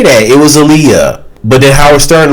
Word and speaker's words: Aaliyah: And it's like, dude, why do you keep mispronouncing her name wrong? It's not Aaliyah.